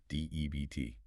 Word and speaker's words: death: But in Elizabethan times, death was often pronounced very much like debt. Debbt.